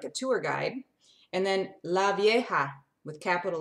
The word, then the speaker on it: La Vieja: And then La Vieja, with capital letters, La Vieja, V-I-E-J-A, Vieja. And sometimes V's are like a B sound, so you might say La Vieja, La Vieja.